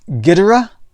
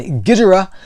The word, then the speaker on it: Ghidorah: I pronounce this Ghidorah.